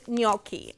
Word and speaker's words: gnocchi: thing that's gonna go with the dish is gnocchi if you haven't bought gnocchi it's spelled g-n-o-c-c-h-i they're an Italian um they're an